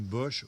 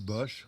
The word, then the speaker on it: Bosch: Et Jérôme Bosch, ou Bosch, comme on prononce comme on veut, a fait un tarot, un magnifique tarot.